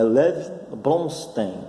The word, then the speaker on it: Lev Bronstein: É Lev Bronstein, assim que se pronuncia.